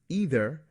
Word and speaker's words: either: Either and neither both have an EI that can be pronounced as a long E or long I.